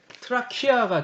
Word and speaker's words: 트라키아: 트라케가 어디냐면요. 트라키아가 정확한 발음인데 여기 보면 이게 빨간 게 그리스 본토예요.